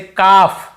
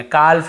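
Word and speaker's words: calf: जैसे काफ, काफ काफ, हाफ हाफ, काफ हाफ, एल को यहाँ पे नहीं पढ़ना, काल्फ हाल्फ नहीं पढ़ना है।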